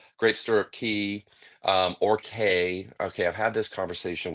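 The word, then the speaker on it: Cay: store key um or K. Okay, I've had this conversation with locals and they pronounce it key, but they say we should pronounce it K because that's how it's spelled and that's how it should be pronounced.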